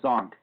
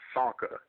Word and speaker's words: Csonka: nickname a zon well my name spelled CSO nka pronounced chunka it's Hungarian and a lot of people uh you know are getting confused by the C and the S uh pronounced it wrong so I just uh it's actually pronounced Sanka like the C is silent just s o n